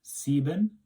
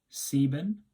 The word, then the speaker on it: sieben: 7 is sieben, sieben. Again, that E comes second, so that's what we pronounce it.